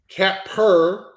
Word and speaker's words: Capper: Capper or Capar? Right. Capper. Really? Okay, it's Capper.